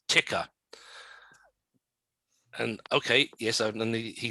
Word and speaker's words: Tycho: brahe and his godson chris lintott called him tycho and patrick turned around very quickly no no no no it's ticker okay yes and then